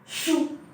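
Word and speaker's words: 竖: Falling tone थी जिसकी pronunciation है शू शू।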